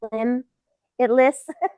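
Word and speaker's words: Limbitless: And limitless is spelled LIMB. Yeah. Yeah, so that way you can kind of get the, limb it lists.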